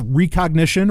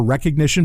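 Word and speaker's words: Rekognition: Stallion breaking in, that's recognition or recognition, but it's spelled with a K instead of a C. It's R-E-K-O-G.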